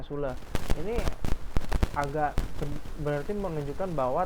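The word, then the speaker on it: Süle: Bukan Sule, bacanya Sule.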